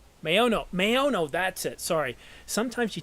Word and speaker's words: Maono: Maono.